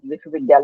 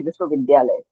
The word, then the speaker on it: Vishal: And I will uh and I would like to make a note like um you pronounce my book name that visal. It's actually Vishal.